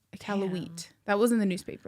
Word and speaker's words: Iqaluit: Oh, Iqaluit. Wheat, I think, is the proper pronunciation. Gotcha. Iqaluit.